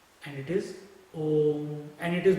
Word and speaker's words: Om: And it is Om, and it is not A-U-M. It is not A-U-M. It is Om. You should not chant Aum, then you will sound like a wolf.